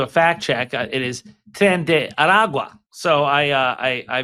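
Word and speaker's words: Tren de Aragua: It is tend Aragua. So I uh I I mispronounced the name.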